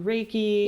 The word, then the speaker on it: Reiki: Like if you because you yourself do Reiki.